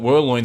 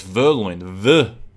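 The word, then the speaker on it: Vergne: It's not Verloin. Someone told me in the comments it's Verloin. Verloin.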